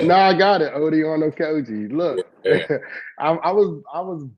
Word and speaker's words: Okojie: All right, my first and last name is Odion Okojie.